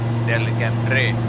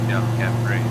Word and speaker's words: Delcambre: Louisiana, that is pronounced Delcambre. Well, the pronunciation of it would be Delcambre, but Delcambre, like Del. Come see me.